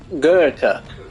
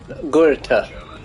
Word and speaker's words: Goethe: Oh, Evie found how to pronounce it in English on YouTube. Goethe. Goethe.